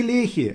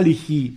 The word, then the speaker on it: Лехи: подружитесь наконец с ударениями не Лехи а Лехи не павелич а павелич